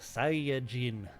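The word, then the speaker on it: Saiyan: well technically it's pronounced sain but nobody really says that anyway it's a pun on the Japanese word yasai for vegetable you switch the syllables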